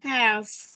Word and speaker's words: health: Cái âm cuối đọc là có nghĩa là phải đặt lưỡi ở giữa hai hàm răng và đẩy hơi ra.